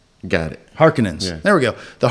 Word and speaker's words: Harkonnen: Harkonnen. Thank you. She's his daughter. So they don't let you know that till all that. So the Harkonnens, did I say it right? Got it. Harkonnens.